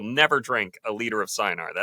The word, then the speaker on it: Cynar: I will never drink a liter of Cynar. It's never actually pronounced Chinar, my friend.